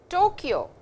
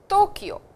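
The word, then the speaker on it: 東京: Please notice, it is not Tokyo in Japanese. It is Tokyo, the sound of ta and not ta.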